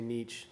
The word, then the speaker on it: niche: you can say it Niche or you can say Niche so we're done with